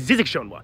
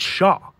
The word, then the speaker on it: Zzxjoanw: this real word looks like it should be pronounced as zizikshonwa but it's actually pronounced as Shaw it's of Maori origin where it can mean